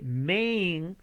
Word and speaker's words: Maine: que se llama Maine, se escribe Maine, pero la A se pronuncia E, la I al final no se pronuncia, la N de Nancy se pronuncia y se lee Maine.